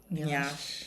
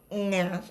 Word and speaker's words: nyash: Nyash. It is not nyash. It is. Please, ladies and gentlemen, you don't stress the NY. It's not a droid. It's just nyash.